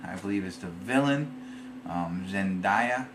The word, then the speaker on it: Zendaya: Zendaya, I think is the way you say her name.